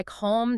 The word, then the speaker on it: calm: That is exactly why calm doesn't rhyme with cat and talk doesn't rhyme with tack. The dark L alters the preceding vowel and then essentially vanishes into the M or the K.